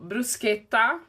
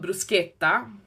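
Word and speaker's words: bruschetta: So, brusqueta, which here would be called brusqueta or brusqueta or whatever you guys call it, but in Italian it's called bruseta.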